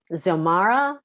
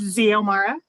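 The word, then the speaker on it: Xiomara: conferences all right okay zomara sayomara i see you nodding i'm saying it wrong how do you say your name it's xeomara xeomara you're nodding what's up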